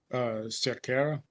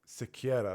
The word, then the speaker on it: Cerqueira: And next up, we have Julius Walker taking on Raffael How do you pronounce that last name, Carlos? Cerqueira. Cerqueira, that's it.